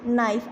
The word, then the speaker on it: knife: के जो है इसमें साइलेंट होता है। ठीक है, इसकी अपनी कोई भी साउंड नहीं होती।